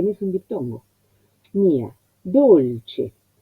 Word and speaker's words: dolce: La O ya me indica que es cerrada. Y nosotros para corroborar podemos pensar en el sinónimo en castellano, dulce. Entonces la U que es cerrada, le corresponde la O cerrada que se asemeja, que los labios van más hacia la dirección casi de la U.